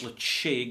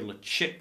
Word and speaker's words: Ledaig: And you will first come across Ledaig or Ledaig, depending on how you want to pronounce it, as a 10-year-old at 46%+ volume, a really good alternative to your Islay single malts.